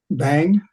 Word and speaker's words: vem: a word that says that's spelled vem I'm going to say bang bang and so on so